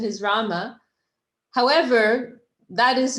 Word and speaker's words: Rama: person asked again so is it ram or rama it's rama it's just you know